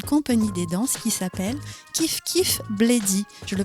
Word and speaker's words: Kif Kif Bledi: projet couturel d'une compagnie des danses qui s'appelle kiif kif bladyy je le prononce bien parfait c'est super kiif kiif bladyy je vais vous lire leur introduction leur site